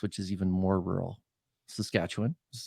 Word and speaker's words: Saskatchewan: next to us, which is even more rural, Saskatchewan.